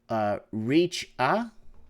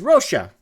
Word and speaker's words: Richa: It's pronounced Richa. Oh, Richa. I thought it was Rocha. Oh, okay. It's Richa.